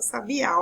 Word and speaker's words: sabiá: Então, ó, ainda, inclusive leva acento, a palavra sabiá, ó. Sabiá, a sílaba mais forte é o A.